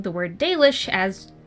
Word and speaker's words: Dalish: Flukas says that while the narrator is doing a good job, they keep pronouncing the word Dalish as Dalish.